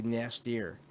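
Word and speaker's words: N'astirh: is kind of funny it's basically nastier i think it's how you see and it's spelled in this really it's n apostrophe a-s-t-i-r-h yeah which reminds me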